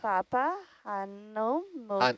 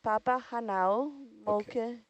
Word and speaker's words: Papahānaumokuākea: Take it bit by bit. Let's Okay. Papa. Papahānaumokuākea. Hanau. And now, Hanau. Okay, Papahānaumokuākea. Moku. Mokua. There you are. Papahānaumokuākea.